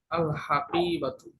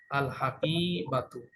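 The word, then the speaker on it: الحقيبة: আল হাকিবাতু। ও আচ্ছা। এখানে কফের পরে একটা ইয়া আছে কিন্তু, এজন্য টান হবে। আল হাকি, এরপরে বা জবর বা, বাত, হাকিবাতু, আল হাকিবাতু।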